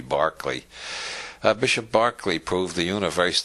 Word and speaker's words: Berkeley: of Berkeley is named because Americans don't know how to pronounce Irish names it should be Barclay Bishop Berkeley proved the